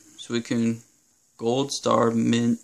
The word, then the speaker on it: Suicune: Suicune. I thought it was... I don't even know how to pronounce this, but I looked it up. Suicune.